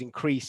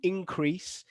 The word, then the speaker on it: increase: is a noun and we've got here temperatures increase every year this is a verb i'm just